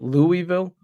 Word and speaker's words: Louisville: say it Lou Louisville how do you say it Louisville Louis Louisville there we go that's how you say it Louisville Lille Lille that's how